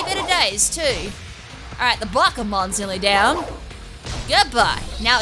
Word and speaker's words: Bakemon: I feel like there should be an accent on the E. So you don't pronounce it Bakemon, I don't think. Bakemon doesn't sound right. Bakemon should be a cake. I think it's Bakumon.